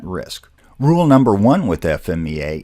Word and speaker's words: FMEA: rule number one with FMEA it is not pronounced FEMA FEMA is the organization